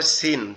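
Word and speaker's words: سين: আর এটার উচ্চারণটা কেমনে হবে, জিহ্বার আগা নিচের দুই দাঁতের আগার সঙ্গে লাগবে, জিহ্বার আগা নিচের দুই দাঁতের আগার সঙ্গে লাগবে, লেগে উচ্চারিত হবে ঝা ঝা ঝা।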